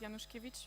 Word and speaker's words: Januszkiewicz: And, well, you pronounce it Januszkiewicz.